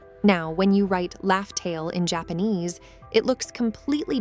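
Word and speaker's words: Laugh Tale: Roger named the island where Joy Boy left the One Piece Raftel. But as we later found out, the real pronunciation was actually LFail. Now when you write Loft Tale in Japanese, it looks completely different from Rafel.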